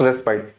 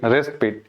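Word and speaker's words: respite: देखिए आप इसको सही पढ़ते हो आप, it's pronunciation is डेस्पाइट बट इट not pronounce रेस्पाइट, इट्स रेस्पिट। क्या पढ़ते हैं इसको? रेस्पिट। इसको हम पढ़ते हैं रेस्पिट, और इसकी प्रोनाउंसिएशन क्या होती है? रेस्पाइट।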